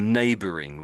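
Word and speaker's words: neighbouring: So NG there is a bit sort of hidden in the middle of the word. When it's at the end of at the end of a word like passing passing, the sound comes out a little bit differently.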